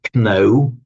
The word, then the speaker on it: know: line, German kennen, and through our English to know. We still write the K, but we we don't don't pronounce it.